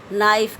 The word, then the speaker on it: knife: आपको मैं बताती हूँ, जैसे इंग्लिश में आता नाइफ, KNIFE, नाइफ, लेकिन लिखते इसको KNIFE है, लेकिन इसका जो प्रोनाउंसिएशन है, उच्चारण है, वो क्या किया जाता है, नाइफ। के को कहीं पर भी उच्चारित नहीं किया जाता, उसको बोला नहीं जाता।